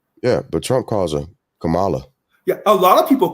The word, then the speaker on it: Kamala: But she says that her mother named her Kamala, and it's pronounced Kamala.